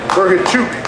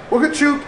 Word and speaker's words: Bohachuk: There you go, Serhii Bohachuk. If you told me to say his name, it's a Chuk at the end, right?